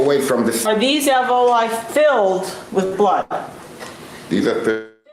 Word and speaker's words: alveoli: Andrews indicated, as a possible way that blood got into the alveoli, I keep pronouncing that wrong, alveoli, does this slide support leaching or a little bit of drainage?